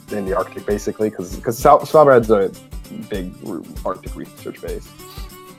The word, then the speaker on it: Svalbard: It's just general research facility that's in the Arctic basically, because Svalbard's a big Arctic research base. Awesome. It's actually pronounced Svalbard, whatever.